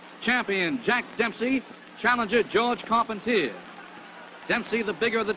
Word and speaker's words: Carpentier: Jack Dempsey advancing on George Carpentier, or Carpentier, if you prefer the French pronunciation.